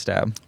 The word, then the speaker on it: Staab: ever go by stab no but if people mispronounce it or read it and read it as time they say step you don't correct correct that's pretty sick yeah